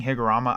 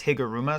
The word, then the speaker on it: Higuruma: Apparently, I've been saying the name wrong. I've been saying Higurama. I have no idea why. It's spelled out as Higuruma.